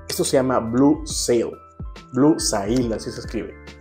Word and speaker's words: Blue Sail: es el Blue esto se llama Blue seo Blue sail así se escribe y bueno no recuerdo exactamente cómo huele